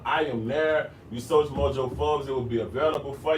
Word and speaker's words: Mojo Forbes: It's spelled like it sounds. It's not Ebonics. You know what I'm saying? I want you to be able to go search that. Mojo Forbes like the magazine.